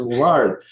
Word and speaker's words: Lillard: That's what got me caught up because I was deciding if I was going with Lillard or the proper pronunciation, Lillard.